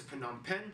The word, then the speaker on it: Phnom Penh: divided into 25 provinces and the capital is phnom penh that's right people it's pronounced phenom pen formerly named chakto mook is actually very conveniently